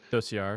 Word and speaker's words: dossier: I'm not sure how to pronounce that word. Dossier.